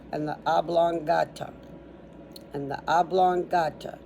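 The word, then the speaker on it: oblongata: the oblong and the ablonga. Just how it sounds.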